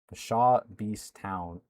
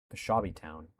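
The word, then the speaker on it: Peshawbestown: City, Suttons Bay, and Pshaw Beast Town. Someone said it in chat. It's different than what I was pronouncing it. Peshawby Town.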